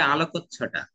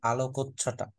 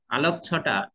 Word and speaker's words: আলোকচ্ছটা: ওইটা হবে আলোকচ্ছটা। এটা কি একটা হ্যাঁ, আলোকচ্ছটা? হ্যাঁ, পরে কতে ওকার চলে আসবে। আলোকছটা এরকম করে বললে দেখো ছয় ছ আর হওয়ার সুযোগ নেই, খেয়াল করছো?